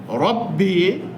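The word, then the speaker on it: رَبِّ: করা] মানে মহান আল্লাহ পাতলা বিষয়টা না আল্লাহর উচ্চারণটা পাতলা করে করতে হয় রব্বি লিল্লাহ আলিফ লিল্লাহ লালিফ মেরা জবর এক আলিফ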